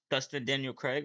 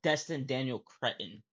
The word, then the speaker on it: Destin Daniel Cretton: Dustin Daniel Craig, that's how you say his name? Just trying to find his name, if he said his name. Yeah, no, Destin Daniel Cretton.